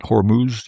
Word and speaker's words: Hormuz: Oh, we're not going to worry about the straight up Humor. I said it right. Right. Hormuz.